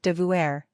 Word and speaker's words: devoir: to be obligated to it was spelled devour he said and was pronounced Devourer the way many elderly quebecois still pronounce it today another major difference is